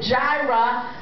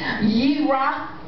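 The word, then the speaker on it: Yireh: these people pronounce it Jirah, but there's no J sound in the Hebrew language, so it would be a Y sound. Yirah, which means all my provision and my provider.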